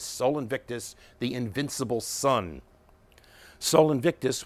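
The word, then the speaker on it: Sol Invictus: have to for forgive my inadequate um Latin pronunciation it was natalis Solus inviti or the birthday of Soul Invictus Soul Invictus the Invincible son Soul Invictus was the official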